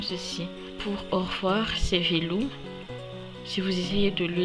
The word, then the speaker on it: veloma: Pour au revoir, c'est veloum. Si vous essayez de le lire à la française, vous aurez tendance à dire veloma, mais en fait on dit veloum. Pour merci, c'est misouch. Misouch qui s'écrit comme ceci.